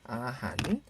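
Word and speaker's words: อาหาร: 음식 아한 아한 할 때도 리을 받침이 왔네요. 하지만 발음은 뭐다? 니은이다. 그쵸? 아한.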